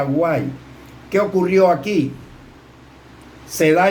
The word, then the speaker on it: White: Se escribe Guite, se pronuncia Guay.